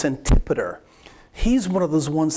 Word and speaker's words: Antipater: and it's kind of when you see it you you want to pronounce it a different way but it's antipoder he's one of those